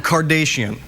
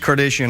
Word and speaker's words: Kardashian: Why are you saying Kardashian? How do you say it? It's Kardashian. You're like one of those newsreaders that says Nicaragua, like that. Right. You're saying Kardashian.